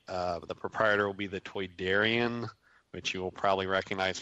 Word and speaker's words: Toydarian: be a stall in the, I guess it's pronounced Batu marketplace. It'll be, the proprietor will be the Toydarian, which you will probably recognize from Star instead Wars. Instead of Tydarian.